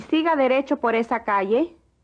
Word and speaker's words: calle: Y siga derecho por esa calle. The double L is pronounced like the Y in yes.